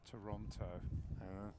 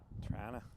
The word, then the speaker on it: Toronto: Yeah, on place name pronunciation, Darren, I'm still getting picked up for saying Toronto. It's apparently also wrong. Trana.